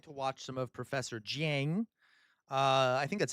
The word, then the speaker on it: Jiang: watch some of Professor Jiang. Uh I think that's how you pronounce it. Jen, is that how you pronounce it? Um, like Jane, but G I A N G.